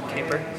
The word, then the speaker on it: Capor: versus Caper good luck that's how you pronounce it Caper yeah it's either that or most people go